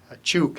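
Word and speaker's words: Chuuk: Now it's on Pohnpei, Chuk as it's pronounced now.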